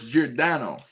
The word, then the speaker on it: Giordano: So, it's Jordano.